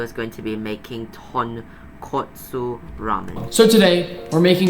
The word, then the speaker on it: Tonkotsu: Kotsu and katsu basically mean different things. Nick, can you please say it properly? It's supposed to be tonkotsu, not tonkatsu.